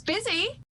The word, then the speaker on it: busy: just a quick note is one of these tricky words that has a short i sound followed by a long i sound so make sure both those vowels are coming in clearly busy busy and i